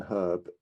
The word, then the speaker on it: herb: this to you but the letter h in herb is not silent number three the letter